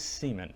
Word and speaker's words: Seaman: It is Seaman.